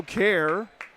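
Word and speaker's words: Kehrer: Brio Care. Last name is slow. K E H R E R but it's pronounced care.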